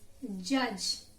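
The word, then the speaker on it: judge: Next word is जज. जज में क्या साइलेंट है आपका, D. जज सिर्फ G की साउंड आती है, D की साउंड नहीं आती है.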